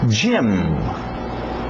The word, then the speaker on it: gym: então Museum Museum Museum Gym gimm gimm parece o nome jaim Gim também mas vem